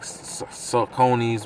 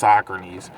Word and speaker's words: Saucony: And the runners are starting to sell like Sauconys, which we call them, but they're pronounced Sauconys.